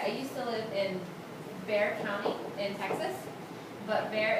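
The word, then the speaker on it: Bexar: know um okay I used to live in Bear County in Texas but there is spelled b e x a r because X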